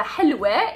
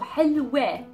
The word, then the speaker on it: حلوة: And the حلوة is the feminine version of this adjective. So حلوة, again the W and the T marboota, so pronounce the T as an A.